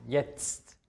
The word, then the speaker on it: jetzt: wie ein Z ausgesprochen die Kombination tzt wird wie ein ausgesprochen jetzt also man hört erst ein Zill und dann noch ein T am Ende jetzt das H wenn es